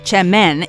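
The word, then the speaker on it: çemen: that's actually worse spelled with a sea seamen pronounced Chen is in reality a popular type of dip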